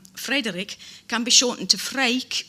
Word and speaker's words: Freek: For example, the Dutch name Frederik can be shortened to Freek, which is spelt F-R-E-E-K. It reads as freak.